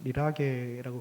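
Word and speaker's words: religare: 그게 바로 종교입니다.이 종교를라는 단어를 라틴어로 어 리라게라고 그렇게 발음하는데요. 이게 이제 영어에서 릴리즘 이렇게에 그것이 어원이 돼 가지고 따라온 것입니다.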